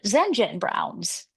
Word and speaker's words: Zenjen Brown: even there's even a lot of Zenjen Browns. I mean Zenjens. Yeah. So Zenjen Brown is still only three syllables.